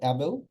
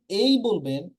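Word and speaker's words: able: আমরা দেখতে পাচ্ছি এটা নরমালি আমরা এটাকে বলি এবেল বা নেভি ইজেন বেসিক তারপরে মেক হ্যাঁ কিন্তু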